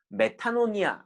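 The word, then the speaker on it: μετάνοια: 라는 말이 무슨 말입니까 헬라어로 메탄 온 이야 라는 발음이 에요 메타 놈이 않은 돌이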